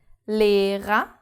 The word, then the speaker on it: Lehrer: The first R is pronounced because it starts the second syllable. And the second R is not pronounced because it's the last letter of the word.